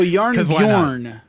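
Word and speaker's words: Jarnbjorn: it was is because it is spelled j-a-r-n b-j-o-r-n so yarn over is probably how it's supposed to be pronounced okay so it's a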